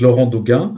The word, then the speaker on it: Laurent Doguin: So my name is Laurent Doguin. That would be the French pronunciation.